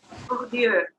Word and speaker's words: Bourdieu: Bourdieu, it's a French.